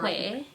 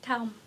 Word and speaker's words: khỏe: khỏe, calm. Ban que Calm. calm. Yeah. It's like calm. Get calm, yes.